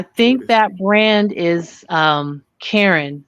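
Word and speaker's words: Caron: that brand is um Karen c a r o n some pronounce it Kon but I mean why not call it Karen but I actually like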